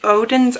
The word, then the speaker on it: Oden's: and these are the odin's eye mystery boxes now i'm pretty sure you say like odin's because i've heard and jessica say it like that and i used her